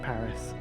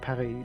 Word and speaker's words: Paris: proper pronunciation for things maybe it made sense to call Paris Paris but now that we can communicate and we can understand there is no reason to not call it Parry like we have enough